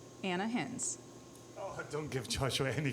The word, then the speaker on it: Ana Hinz: Ana Hinz.